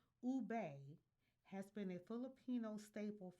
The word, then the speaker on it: ube: The vividly purple yam pronounced ube has been a Filipino